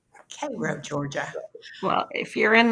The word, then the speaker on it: Cairo: So Yeah, if you go home to Cairo, Georgia, people get really upset if you pronounce it Cairo.